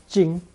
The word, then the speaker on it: 精: In Lesson 52, we saw the rice radical, mi, combined with the qing phonetic, pronounced first tone, jing.